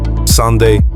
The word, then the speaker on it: søndag: Sunday sand. Finally, Sunday is sunda. Another sound just like lura.